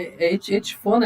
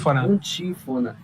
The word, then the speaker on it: Antífona: Ei, Cid, olha só, eu queria falar da Etifona, essa pronúncia, como é que era? Antífona.